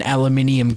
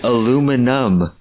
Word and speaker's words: aluminum: No, it's not. It's aluminum. There's no I at the end. It's N-U-M, not N-I-U-M.